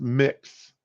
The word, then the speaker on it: Mx: Mr amiz is the title MX pronounced mix you notice how they